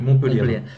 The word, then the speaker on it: Montpellier: Montpellier.